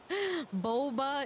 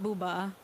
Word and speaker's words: boba: dirty who's booba what boba is not booba oh then again now that i think about it some people do pronounce boba and bubba wrong i remember some of